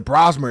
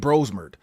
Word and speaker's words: Brosmer: Didn't even pronounce the name right, huh? I know. They they killed his name and put him as a verb. Like we don't want to get bromer, but they said Bromer.